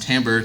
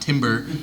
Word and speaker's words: timbre: It has timbre, which is a word pronounced timbre, not timber, and don't ask me why.